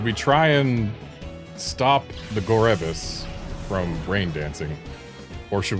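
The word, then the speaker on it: Gorebyss: Also, the reason I pronounce it Gorebis is I'm pretty sure Pokédex 3D Pro did that. And I remember it, like, it annoyed the hell out of me. Because, like, who would pronounce it Gorebis? Who would enunciate the E, but they did it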